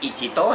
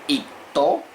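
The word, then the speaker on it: 一頭: No se dice ichito, sino el primero sería ipto, si queremos decir ahí una jirafanos.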